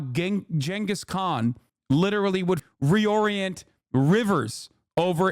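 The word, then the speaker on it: Genghis Khan: regime does not exist Jenis Khan is how you say it you idiots shut up making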